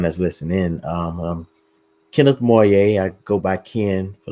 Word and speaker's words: Moye: Last name was spelled the same way, but it was Moye. So that's how I was pronouncing your name for the longest until I heard somebody pronounce it Moye.